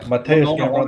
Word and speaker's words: Mateusz Gamrot: Mateusz Gamrot. Yeah, Mateusz Gamrot. That's how you pronounce it.